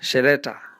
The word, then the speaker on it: Cheleta: Well, the plantation was later bought by an Englishman, that is in the 1950s, and he named it Cheleta Farm, which the locals pronounce as Sheleta.